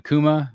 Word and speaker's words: Akuma: Yeah, is it Akuma? Is that? Yeah, it's Akuma.